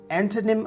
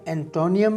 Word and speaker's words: antonym: आपने इसे एंटोनिम अदा करना है, एंटोनियम प्रोनाउंसिएशन गलत है।